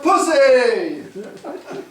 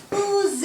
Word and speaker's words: Pussy: Give it to our new girl in town, Olivia Pussy! It's pronounced boozy.